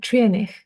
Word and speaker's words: Treurnich: Uh Trinish.